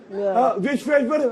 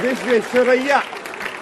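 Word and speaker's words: Visvesvaraya: या ना विश्वेश्वर, अरे भैया विश्वेश्वरैया, विश्व फंस गया मुंह।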